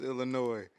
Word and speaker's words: Illinois: this Illinois or Illinois I hate when people add the s to the end of it bro come on man y'all know it's Illinois stop adding that s to that